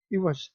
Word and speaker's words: عوض: کا تلفظ واضح کیا۔ عوض، یہ عین کے نیچے زیر آئے گا، عوض۔ یہ دیکھیں، عوض،